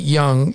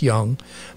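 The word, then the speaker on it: Jung: and I'm pronouncing it Young, is J-U-N-G. So I'm guessing it's pronounced the same way as the psychologist, Young.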